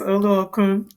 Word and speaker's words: Oluokun: Oluwatosin Oluokun. Did I say well? Yes, Oluokun.